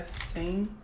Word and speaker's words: Senjumaru: A pronúncia é Senjomaru.